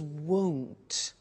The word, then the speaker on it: won't: with the money is won't be careful with the pronunciation it's not want its world so the